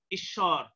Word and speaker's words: ঈশ্বর: ঈশ্বর উদাহরণ দিয়েছিলাম আমরা আগেই, হ্যাঁ, অর্থাৎ এখানেও কি দীর্ঘই থাকা সত্ত্বেও উচ্চারণ কি হ্রস্বই, ঈশ্বর।